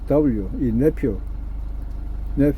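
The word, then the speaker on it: nephew: N-E-P-H-E-W. 이 네퓨. F 발음입니다.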